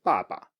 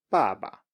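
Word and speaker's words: 爸爸: And the first example we're very familiar with by now, it's 爸爸, 爸爸. So the ba is falling and then just a light touch, 爸爸, 爸爸.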